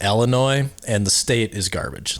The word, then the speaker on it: Illinois: And it's, by the way, it's pronounced Illinois, and the state is garbage.